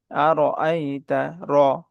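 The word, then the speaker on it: أَرَأَيْتَ: শুরু করছি আল্লাহর নামে যিনি পরম করুণাময় অতি দয়ালু আরল্লাবিদ্দি আরইতাল্লাজ আরইতা আর আইতা আর এর উচ্চারণটা মোটা হবে আর আইতাল্লাজি আর আইতাল্লাজিল জালের উচ্চারণটা নরম হবে।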